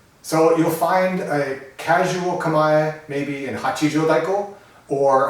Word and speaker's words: kamae: It's pronounced Kamae and not Kamae. There is no E sound in the word.